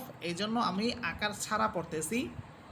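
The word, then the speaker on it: ظ: সেটা হচ্ছে প্রথমে হচ্ছে জ, এটাকে অনেকে জোয়া বলেন, এটা ভুল, বরং হরফটি হবে জ। আমি যদি জিহ্বার আগা সামনের উপরের দুই দাঁতের আগার সাথে লেগে এইভাবে উচ্চারণ করি, তাহলে দেখবেন অনায়াসে আমার জ হরফটা উচ্চারিত হচ্ছে।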